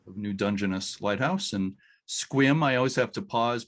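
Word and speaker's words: Sequim: is chad kaiser of new dungeness lighthouse and squim i always have to pause because it's spelled s-u-q-u-i-m but it is pronounced squim right chad uh yeah yep swim washington when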